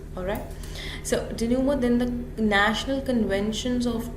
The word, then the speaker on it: denouement: The pronunciation is denouement.